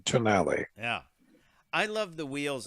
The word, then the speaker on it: Tonale: we were talking about what's the right way to say this yes they they wanted to be the italian pronunciation tonali yeah i love the